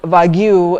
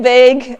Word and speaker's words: vague: I said, well, what you said is rather Wagyu. And then he was like, what? And he said, do you mean vague?